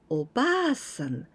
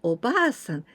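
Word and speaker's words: おばあさん: The intonation, たたたん, たたたん, おばさん. Because if we say the long sound, おばあさん, たたんたん, たたんたん, おばあさん, it means grandmother.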